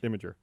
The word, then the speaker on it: Imgur: Oh, it's totally Imager. Is that how you say it? Yeah. Imgur? Imgur. Imager. Imager? What fucking planet are you from? I mean, it's spelled Imgur, It is. but everyone Imgur. knows you don't say it that way. Nobody says that.